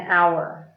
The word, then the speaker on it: hour: is a hat an hour and hat begins with the constant sound huh but our begins with a vowel sound because the H is silent so after you know